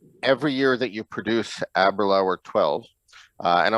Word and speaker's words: Aberlour: year that you produce aberlou or 12. uh and i might pronounce that correctly aberlower because a few people corrected me privately here before aberlor rhymes with happy hour abroad happy hour brilliant